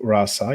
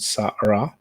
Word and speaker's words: Sa Ra: Sa Ra. You have the Ra first because of the, it's out of respect that it is first, but you don't pronounce it Rasa, you pronounce it Sa Ra.